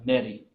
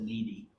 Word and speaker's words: Nettie: He and his wife, Nettie. For years, I thought you pronounced that needy, because my grandmother had a sister named Nettie, but she called her needy.